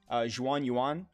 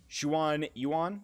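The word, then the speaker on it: Xuanyuan: as next week is the juan yuan chronicle or i'll just show you i'm probably saying it wrong yes shuan yuan so we'll be going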